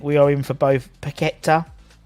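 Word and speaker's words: Paquetá: are in for both pageta that's how it's pronounced not piqueta packet and hands yes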